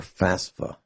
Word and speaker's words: FAFSA: will sign up for FAFSA that's how it's pronounced I don't know where